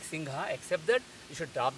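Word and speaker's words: सिंह: So if you do that, you will get the correct pronunciation. So the correct pronunciation is singha, singha. I am about to say singa, but at the last second, I am dropping ga, instead I am saying ha. So I get singha, singha, singha.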